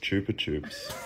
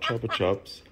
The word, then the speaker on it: Chupa Chups: where the brand is actually from uh it's pronounced Chupa Chups get out chup Chups not choer chops ch ch ch to suck chup uh the